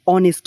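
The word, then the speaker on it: honest: এইখানে আমরা যদি একটু উচ্চারণ করি এখানে অনেস্ট উচ্চারণ হচ্ছে। অনেস্ট অর্থাৎ এইচ এর উচ্চারণ হচ্ছে না।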